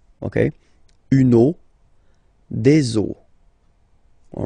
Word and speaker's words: eaux: but then same rule, you don't pronounce it. Des eaux, okay? Une eau, des eaux, all right?